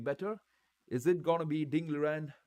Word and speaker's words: Ding Liren: Is it gonna be Ding Liren, or rather how you call it is Ding Lizan? That's how he says you pronounce it.